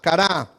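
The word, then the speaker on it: קָרָא: 21 en el strong es cara a póngale ahí el acento no no le puse es en la última a cara y quiere decir llamar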